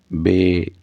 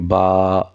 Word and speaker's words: با: میں ادا کریں اور اردو تلفظ سے پرہیز کریں، یعنی بے، تے، سے، فے، توئے، زوئے وغیرہ ہرگز نہ پڑھیں، بلکہ با، تا، سا، حا، خا، طا، ظا پڑھیں۔ ان 29 حروف میں